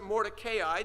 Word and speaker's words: Mordecai: He's kind of curious in some ways because his name, Mordecai, or some people pronounce it Mordecai, depending on what you want to do with those two last vowels.